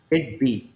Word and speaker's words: Kidbea: Am I pronouncing it किड बी, correct? किड बी, Kitbia. किड बी. Kitbee.